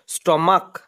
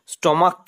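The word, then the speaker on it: stomach: শুধুমাত্র এস হবে Monarch স্টমাক সিএইচ এ উচ্চারণ ক এর মতো কি হবে স্টমাক স্টমাক স্টমাক স্টমাক নাউনের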